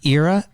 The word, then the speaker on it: Eira: uh she is the owner and founder of era cbd am i saying that correctly yeah and that's spelled e-i-r-a she's going to talk to us